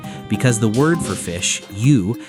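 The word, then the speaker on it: 鱼: And the fish must be served whole, head and tail intact, because the word for fish, yu, sounds like the word for surplus.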